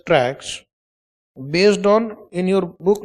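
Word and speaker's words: TRAHK: I shares based on MSCI indexes and T R A HK which is pronounced as tracks based on in your book you make a small correction.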